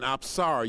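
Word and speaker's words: apsara: from Cambodia and specifically she is called an absara you spell that a p s a r a and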